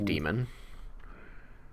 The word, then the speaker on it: daemon: They spell that with an A. Yeah, Daemon, demon. Oh, that's fine. For program stuff, it's always demon, like that.